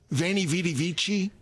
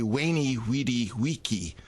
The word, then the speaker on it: Veni Vidi Vici: You would say Veni Vidi Vici. So the V, the pronunciation of the V, whether as a W or a V, the pronunciation of a